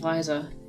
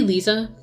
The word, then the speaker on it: Liza: until the car accident Liza that could be Lisa but or even Lisa but I'm choosing to believe Liza because Liza sorry Liza it's the way it's spelled I know I know